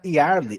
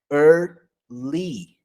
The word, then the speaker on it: early: Essa outra palavra que não é early, é early, certo?